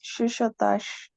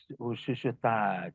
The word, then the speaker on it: chuchotage: It's chuchotage. Shushutaj.